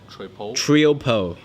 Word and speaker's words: Triopo: company name is T we how do you pronounce this troll trio po is a trio po t RI o P